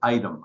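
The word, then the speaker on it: Ightham: town called inkthem i-g-t-h-a-m they pronounce it item i-t-e-m that's how we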